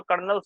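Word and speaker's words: colonel: आपने पढ़ा है इसको, कर्नल्स भी कहते हैं, कर्नल्स, है ना। ये वो कर्नल कर्नल नहीं है, कर्नल जिसको हम बोलते हैं, हालांकि इसके स्पेलिंग ही अलग होती है, कोलोनल होती है, COLENEL, है ना।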